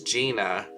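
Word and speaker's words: Jina: Down here is Gina, spelled with a J, and she is a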